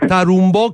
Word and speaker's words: Tarumbò: delle sue canzoni Senti Andrea correggi la mia pronuncia CH saccio parl solo italiano e Napolitana purtroppo Allora tarumbò Carib gno carum Bò come la musica di